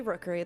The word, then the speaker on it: Rookuri: Hi, I'm Rook, aka Rookery. That's spelled ROOKURI.